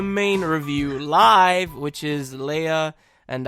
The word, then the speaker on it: Lea: review live, which is Leia and I. I thought it was Leah and I, and then... I think it is Leah and I. No, it's Leia. Is it? Yeah, because she's French.